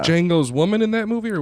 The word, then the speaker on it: Django: Dango on it's called Jango the D is silent yeah I got it